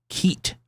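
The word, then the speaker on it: CEAT: Yeah, so I've heard Seat, but actually the guys in Milwaukee, which is the headquarters from Royal Enfield, said Keat or Kiat. She very specifically, with a hard C.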